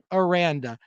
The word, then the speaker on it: Aranda: else or renata sorry baylor man i didn't pronounce his name correctly or ronda okay his name aranda god who coaches at baylor there you go